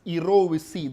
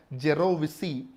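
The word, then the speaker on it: jirovecii: So see, for pneumocystis erovisi, actually the pronunciation is erovisi, though you read it as a gerovisi, the actual pronunciation is erovisi.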